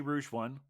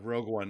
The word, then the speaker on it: Rogue One: in I uh I did not see Rouge one uh uh or however it's pronounced um but I understand it's a it's a prequel to Rouge one is that right yeah Rogue one yeah you can uh